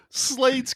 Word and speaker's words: Slade: Slade's catchphrase the entire movie. Let's hustle. You're welcome, Deadpool and Wolverine, for Let's Fucking Go, because Turbulence 3 is what inspired that. His name was Slade. Rhymes with Wade.